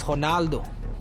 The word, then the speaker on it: Ronaldo: I knew his last name, Candido, but I know uh Ronaldo is not Ronaldo in Portuguese. So, I tried to say it in Portuguese, Honaldo.